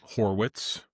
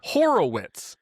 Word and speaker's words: Horwitz: H O R Wii TZ Horwitz. Yeah. Is Is Boo Is Boo pronouncing it Horowits? Why does Boog call him Horowitz every time?